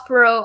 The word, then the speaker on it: Perot: Yeah, Perot all the way.